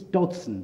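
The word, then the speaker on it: Dodgson: context and it is Dodson by the way the g is silent it's not just a strange way I pronounce it so to begin with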